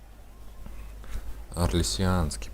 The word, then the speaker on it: Орлесианский: Орлесианский, правильно говорить, короче.